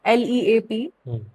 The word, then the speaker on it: Leap: So, Leap Castle, it's written as Leap, L-E-A-P, but the Irish pronunciation is Leap.